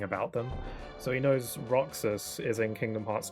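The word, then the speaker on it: Roxas: Um, but um, so he knows his name but he pronounced his name wrong. He pronounced it like Rogass or something like that or Roas.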